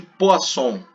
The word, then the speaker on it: Poisson: Bom, coeficiente de Poisson, né? Se escreve Poisson, mas a gente fala Poisson.